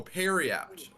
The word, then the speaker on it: Periapt: else knows exactly how it's supposed to be pronounced, you go ahead and tell me. So Harriet? Harriet. Peridot. Harriet. Period. Yeah. Oh, Periapt.